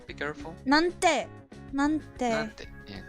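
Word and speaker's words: なんて: そんな恋なんで私 It's not exactly なんで. Be careful. なんて Yeah.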